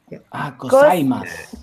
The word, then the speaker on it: gozaimasu: Like in Portuguese or Italian, in the Japanese, really connect sounds like English or French. So you can pronounce every syllable as a separation.